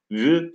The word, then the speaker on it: vü: Arkadaşlar nale ünlüyle bittiği için ünlüyle biten kelimeden sonra gelen V'leri vü diye okuyacağız. Ü diye okumayacağız. V diye okumayacağız. Şiirlerde ne okuyacağız? Ya ü diye okuyacağız veya vü diye okuyacağız. Ne zaman ü diye okuyacağız? Bir önceki kelime ünsüzle bittiği zaman ü diye okuyacağız. Ünlüyle bittiği zaman vü diye, ünsüzle bittiği zaman ü diye.